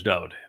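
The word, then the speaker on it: דוד: And I use Dode David because his name is Doed. Every song he wrote, his mismo, his psalms, in his own hand, his name is spelled dth wah daleth. It is a Hebrew word. It means beloved.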